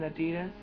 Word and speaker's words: adidas: right my backpack looks like this it's an adidas that's how you say it i got this